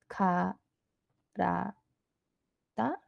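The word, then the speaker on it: からだ: an example in Japanese the word for body is cut da da and I'm going to annotate it like gah dah dah sorry if that's hard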